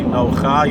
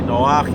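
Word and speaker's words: נח: at the end, because just like you don't say Nocha, you say Noach, you don't say Kocha, it's Korach, right?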